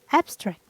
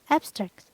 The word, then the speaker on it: abstract: for example abstract abstract in adjective and noun the stress is placed in the first syllable so it's abstract abstract and Abstract as verb the stress is placed in the second syllable so it's abstract abstract